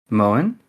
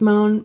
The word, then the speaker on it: Moen: But my original character is Moen, and it's a sea wolf name, which means it's not actually pronounced Moen, but I just go with Moen because that's what most people say.